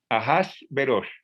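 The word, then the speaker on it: אחשורוש: nombre que suena raro y como lo pronuncian los hebreos ajas veros así lo pronuncian los hebreos el nombre de azuero hojas ajashverosh reino desde la india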